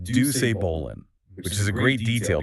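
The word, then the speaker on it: Doucet Bolin: And to the victor goes the most coveted prize in the Omega Cluster universe, the Ducet Bolan, pronounced Duce Bolan, which is a great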